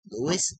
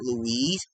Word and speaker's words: Louis: My middle name is Louis, not Louise. It's Louis. No, not. Louis.